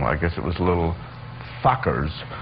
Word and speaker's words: Fockers: I guess it was Little Fockers. right. Yes, I said pronounced it right.